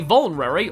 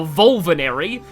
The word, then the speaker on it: Vulnerary: Lyn has a Vulnerary or as I called it as a kid, a Volvanary. Uh I mispronounced a lot of item names and weapon names in this game.